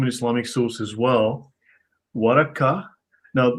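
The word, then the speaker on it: ورقة: Waraka. Now, the K, the hard K, is the Central Arabian pronunciation.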